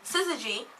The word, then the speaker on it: syzygy: first up is my word of the day, which is syzygy, which Cool. is syzygy. Scissor. Say it So syzygy. Syzygy. It's spelled S-Y-Z-Y-G-Y.